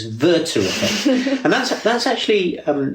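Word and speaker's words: Werther: interesting point and it's um I'll correct your pronunciation, Hisha. It's it's German. It's Verter.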